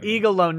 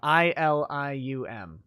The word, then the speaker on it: Ilium: saying you know uh eagle alone no it's spelled ilium i-l-i-u-m ilium ilium is one